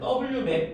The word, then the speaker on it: WMAP: 그때의 위성 이름을 코비 위성이라고 읽어요. 그다음에 W맵이라고 읽습니다. Cob는 코비. 그다음에 WMAP는 W맵 위성이라고 읽는데이 두 개의 위성들을 우주로 쏴서 얘네들은 우주 마원경이죠.